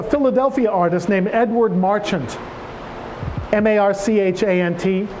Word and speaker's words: Marchant: work of a Philadelphia artist named Edward Marchant ma rch a NT pronounced Marchant I discovered only recently who was recommended